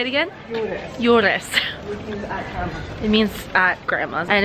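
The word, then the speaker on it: Juures: Yules.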